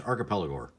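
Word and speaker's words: Archipelagore: It's Archipelago, just so you know. Archipelago. Like archipelago, but gore.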